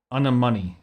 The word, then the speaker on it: anemone: Anemone is how it's pronounced.